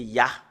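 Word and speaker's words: יה: Et nous voyons très bien que le fait de prononcer le Yod et le He, c'est Ya. Voilà.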